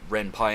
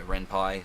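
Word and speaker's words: Ren'Py: from the word python because it's uh the renpie engine was adapted from the python engine or python coding something to do with the word python and so you know renye python you know renpi so yeah just for trivia that's why it's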